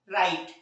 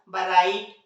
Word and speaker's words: write: रही है, डब्ल्यू से, लेकिन इन्हें पढ़ा क्या जाता है, रॉन्ग, राइट, रिस्ट, जबकि पढ़ना क्या चाहिए था इस हिसाब से, बरॉन्ग, बराइट, बरिस्ट।